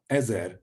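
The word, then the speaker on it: עזר: Ezer means help. So that's a go at pronouncing the vowels.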